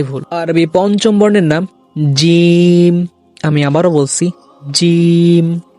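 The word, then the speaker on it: ج: এই হরফটি উচ্চারণ করতে অনেকেই ভুল করে থাকে, যেমন বলি জিম জিম। এই উচ্চারণটা ভুল, আপনি উচ্চারণ করতে হবে একটু কঠিন ভাবে, শক্ত হবে, জিম জিম।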